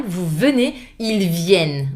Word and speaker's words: viennent: Vous venez, ils viennent. The I is back and open A sound. Please, no ENT final. I mean, do not pronounce it.